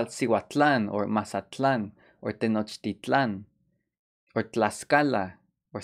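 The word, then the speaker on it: Mazatlán: Mazatlan, remember the pronunciation? Mazatlan, place of Mazatl or deer.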